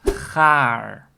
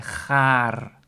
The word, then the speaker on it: gaar: word for that is gaar. So I use the pronunciation of r for the R. You can also say gaar. But for this lesson, I just keep it on gaar.